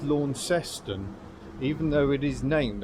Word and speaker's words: Launceston: I must say it is pronounced Launceston, even though it is named after the Cornish town which pronounces it Launceston.